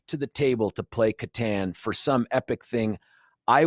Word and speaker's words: Catan: Yeah, it's Catan.